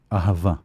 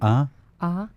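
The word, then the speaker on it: אהבה: Because if we take the word love, right, ahava in Hebrew. How do you say it? Ahava.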